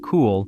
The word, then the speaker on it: Cuil: Cuil, pronounced Cool, was founded by 4